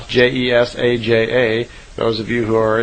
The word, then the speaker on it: Jesaja: who spoke through the prophet, I believe it's pronounced Jesaja, Jesaja.